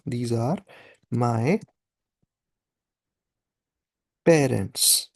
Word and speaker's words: parents: That is पारों only, pronounce it slightly differently. ऐसा कि हमने जब हम प्रोनाउंसिएशंस कर रहे थे तब हमने क्या पढ़ा था कि ए एन ओ एन ई एन कहीं भी आया था तो sound is ओ, सो पारों, एंड ऑफ